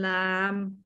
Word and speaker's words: lamb: digraphs so things like in lamb the b on the end you don't actually pronounce um we talk about